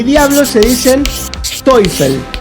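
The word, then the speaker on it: Teufel: y diablos se dicen topel y la eu aquí se pronuncia como si fuera una Oy como si fuera neer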